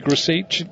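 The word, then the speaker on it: Grosicki: It is actually Gruzic. I went on there and I had the old sound on it. It's spelt Gruzicki, but he actually says Kamil Gruzic.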